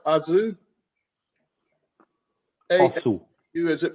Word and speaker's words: aszú: Tokaj, is the word pronounced aszú? Aszú. Is it pronounced aszú? Aszú, yes, aszú. It's also closed A, yes, aszú.